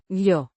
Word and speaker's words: yo: It introduces the subordinate clause, Yo. a personal pronoun meaning I, pronounced Yo. with a long O. sound like the O in go.